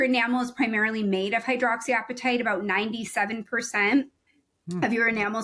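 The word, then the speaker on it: hydroxyapatite: I pronouncing it correctly hydroxy appetite is that how yes hydroxy appetite like your hungry appetite yes yeah yeah I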